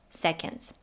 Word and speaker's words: seconds: you got 10 seconds in the word seconds the o is pronounced as a schwa and the d is slightly touched seconds then she links got